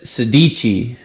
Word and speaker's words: Sedici: say this name so he said sadichi so it's like italian but he said yeah you gotta do the you gotta do the little hand thing when you say sadichi sadichi that's how he